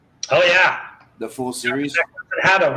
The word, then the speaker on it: Harlock: Haddock, right? Is that how you say it? I bet all, but it's Harlock in English.